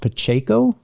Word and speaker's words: Pacheco: I believe it's pronounced Pacheco.